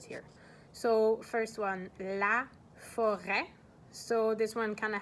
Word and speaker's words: forêt: The t would be like the silent letter at this point. But so la forêt, that's a noun, a feminine noun, and it's a forest.